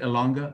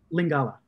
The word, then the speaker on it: Lingala: Elanga? No. Lingala. Lingala. Yes, Lingala. Do you already have a certain level of proficiency in that language? So I can get around. I'm conversational in Lingala.